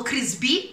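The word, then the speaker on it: Crisbì: novità limited edition dei chris b o crisi b perché c'è l'accento sulla i con crema baci perugina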